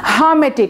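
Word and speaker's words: hermetic: এরপর দেখি হারমেটিক, এটার উচ্চারণ আমি দেখলাম হামেটিক, অর্থাৎ আরটা উজ্জ থাকবে, যে আর আছে না উচ্চারণের ক্ষেত্রে হামেটিক বলবেন, আরটা উজ্জ রাখবেন।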